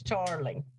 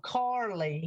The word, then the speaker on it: Charleigh: Justin Adams' daughter's name is Charlie. Okay. And it's spelled Charleigh. For a year, I have called that child Carly.